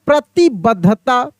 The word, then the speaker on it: प्रतिबद्धता: लिखते हैं बुद्ध बुद्ध तो देखिए उच्चारण में ऐसा लगता है कि द नहीं है केवल ध है लेकिन उसमें द छुपा हुआ है आधा द है ठीक है ना बुद्ध